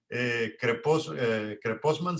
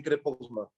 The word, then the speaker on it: Krepostman: Creposman se pronuncia. Sí, correcto, Creposman.